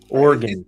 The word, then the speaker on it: Oregon: Oregon. It's 2 syllables. Oregon. The same way you say again. But it's not gun.